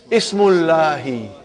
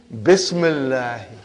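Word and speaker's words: بسم الله: If you took out B, what will, how will you pronounce now? Ismullahi. What will you say? Ismullahi. Bring B, Bismillahi.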